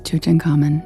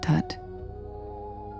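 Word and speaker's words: Tutankhamun: But anyway, yes, his name is Chuchen Common, not Tut. They pronounced the abbreviation wrong just in case you guys care about that too.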